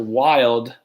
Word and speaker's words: Wild: This is Wild, Wild with a silent E, not with a silent E, Wild, aka the.